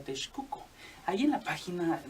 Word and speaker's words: Texcoco: Entonces dice, bueno, pues me voy a poner mi imperio en Texcoco, donde cabe aclarar que se pronuncia Texcoco.